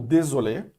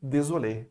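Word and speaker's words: désolée: Désolé, ou désolé, para o feminino e para o masculino. O E final existe, mas não é pronunciado no feminino.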